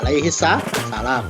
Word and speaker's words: Alaihissalam: Alaihis ah Alaihisalam as itu bukan Amerika Serikat lah nanti bacanya eksitu Alaihisalam salah Nabi Musa Alaihis Salam Hai kemudian ada Kitab